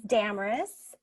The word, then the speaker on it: Damaris: 2008 Damaris Webb hi my name is Damaris and it rhymes with glamorous and this is the